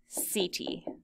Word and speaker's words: setae: And I know those words don't look and sound the way that they sound, so we'll write underneath that these are pronounced chaetae and setae.